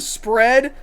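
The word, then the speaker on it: Spred: It's not even like the word spread. Spread is what it is. Oh, and then this one that's spelled C R O H D apostrophe A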